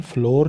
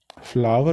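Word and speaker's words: flour: ये फ्लावर, इसका pronunciation फ्लोर नहीं होता, फ्लावर होता है.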